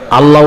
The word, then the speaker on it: আল্লাহ: দুই ঠোঁট একত্রিত করা যাবে না।